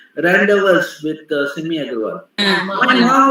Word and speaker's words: rendezvous: No, it is not rendezvous. It is rendezvous. Random. Because after the vowel sounds, the letters are not pronounced.